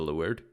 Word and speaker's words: leeward: Leeward, pronounced leeward, also known as downwind, is the direction in which the wind is blowing.